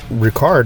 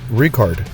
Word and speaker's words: Rikard: And it's not Ricard, it's Rikard. I made sure I pronounced that correctly.